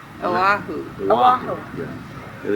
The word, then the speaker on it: Oahu: They pronounce it Oahu. Oahu. Oahu. Yeah. And it's Hawaii. Hawaii. They pronounce every vowel.